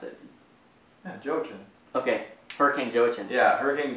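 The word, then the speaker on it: Joaquin: gonna be her hurricane yeah category 4 hurricane joechip um that's gonna be a that's not how you pronounce it Jochen okay hurricane joachim yeah everything Jojen to me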